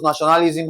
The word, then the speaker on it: nationalism: Okay, we have na sho na li sm. Okay, that's five syllables. Okay, so nationalism has what now? Five syllables. Now, to break this down, we'll have what now? Nationalism and N A stressed.